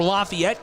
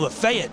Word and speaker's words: Lafayette: Sutton played 78 games for Lafayette College from 2018 to 2022. I had to pause. There's a city that's spelled the exact same way about 40 minutes south of here, and they call it Lafayette in Chattanooga area.